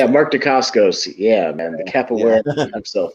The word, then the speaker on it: Mark Dacascos: So with Mark Dacascos, is that how you say his name? I think that's how you say it. Mark Dacascos.